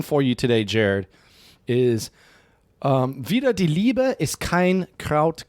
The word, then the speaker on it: wider: And this wieder isn't like wieder again, but actually against. So wieder die Liebe ist kein Kraut gewachsen. So is that the same word used in multiple different ways? It's spelled differently. It's W-I-D-E-R, and wieder again is W-I-E. Okay. Slight difference.